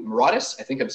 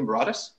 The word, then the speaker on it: Mauritius: Therefore, he went to Mauritius. Is that how I'm pronouncing that correctly? Mauritius?